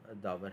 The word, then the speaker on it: दावर: चलूं तो मेरा नाम है बहुत सारे लोग उसको कुछ और भी जो है वो प्रोनाउंस कर देते हैं बट मेरा नाम दावर है बाय प्रोफेशन में इंजीनियर